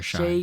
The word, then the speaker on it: Shai: sha Shai sh Alexander how do you say his first name Shay Shay sorry Shay Gil Alexander and Jaylen Williams led